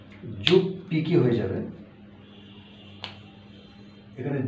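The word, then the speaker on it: 十匹: 10টা যদি হয় তাহলে কি হবে, জু মানে 10, জু যোগ হিকি, যোগ হিকি সমান কি হয়, যুগ পিকি হয়ে যাবে, এখানে জু হিকি, ইচি হিকি, ইপ পিকি, জু হিকি জুপ পিকি হয়ে যাবে।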